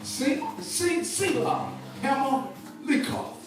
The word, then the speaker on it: Sela-hammahlekoth: It sounds like almost like a Q on the K, but it's koth.